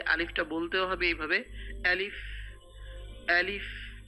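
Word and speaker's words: ألف: বলতেও হবে এভাবে আলিফ আলিফ এটা খেয়াল রাখবেন শক্ত করে বলতে হবে হলকের শুরু থেকে হলক মানে কণ্ঠনালী কন্ঠনালী শুরু থেকে এটা আনতে হবে তারপরে যে হরফ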